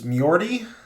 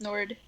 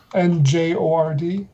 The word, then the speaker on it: Njord: But so the grandfather, who's we keep just calling the grandfather, I think his name was Mjordi. Does that sound right? Njord? That was Nord. Yeah. Njord.